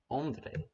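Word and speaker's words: Ondřej: Is that the right pronunciation, by the way? Nearly perfect. It's Ah, like Ondrej, I think. Ondrej.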